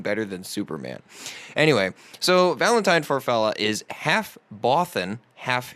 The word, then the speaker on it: Valenthyne: Valentine or Valentine Farfalla is spelled Valenthyne. It's very bourgeois. It's like thyme, almost, the herb.